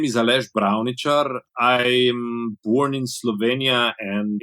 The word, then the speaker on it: Aleš Bravničar: Yeah, my name is Aleš Bravničar. I'm born in Slovenia, and in these parts of the world, we have some funny little things on our letters. Ch, sh, zh.